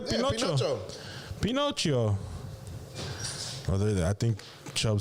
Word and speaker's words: Pinocchio: Yeah, Pinocchio. Pinocchio. Oh, I think Chubb spelt it wrong and they're ribbing him. Yep, Amber's ribbing him. Oh, shit. Or did he correct himself? Oh, he corrected himself. Pinocchio.